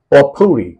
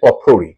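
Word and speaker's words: potpourri: এবং আজকে শেষ ওয়ার্ড পটপুরি দেখো খেয়াল করে দেখো স্পেলিংটা পি ও টি পট পি ও ইউ আর আই পটপুরি কিন্তু পটপরি বলবে না প্রোনাউন্সিয়েশনটা হচ্ছে পপুরি ওকে পপুরি মানে হচ্ছে মেডলি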